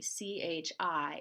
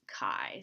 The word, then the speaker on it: chi: see the letter Kai CH I it's not chai It's not Chi it's Kai so kind of like